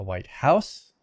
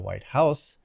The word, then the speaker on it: White House: I grew up in a white house, but I will probably never live in the White House. That's a compound noun. Compounds usually have the main stress on the first element.